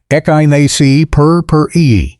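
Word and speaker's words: Echinacea purpurea: Echgonia perura, pronounced echyni per the native prairie plant that has been elevated by modern cultivar development from a wildflower into a sophisticated front yard perennial.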